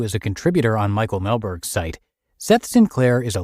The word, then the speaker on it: Mehlberg: And big thanks to Seth, who is a contributor on Michael Melberg's site.